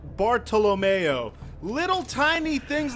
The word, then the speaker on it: Bartolomeo: asked Scott in bocce you would think his name is Bartholomew but they pronounce it bartolomeo little tiny things like